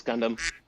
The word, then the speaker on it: Gundam: Just tell me uh really quickly again how you pronounce it. What? Quacks. Gundam. Quack. It it's Gundam.